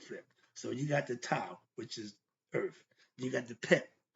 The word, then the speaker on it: Tao: But in Chinese, you see the T-E-O, what spells Tao, is pronounced Tao.